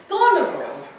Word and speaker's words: Goneril: The point is that Mary's character is pronounced Goneril.